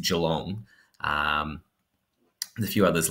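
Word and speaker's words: Geelong: for example with Australia people often say jalong they say Jong but having lived there it is along um a few others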